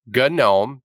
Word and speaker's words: GNOME: It is pronounced GNOME because it's GNU something. But is what it stands for. So it's GNOME. Don't correct me on that and don't say GNOME anymore.